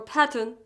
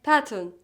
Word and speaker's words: pattern: Like But unstressed, you're gonna pronounce them as the schwa, the lightest, shortest vowel sound in English. Like afternoon, or pattern, afternoon, after, after, and pattern, pattern.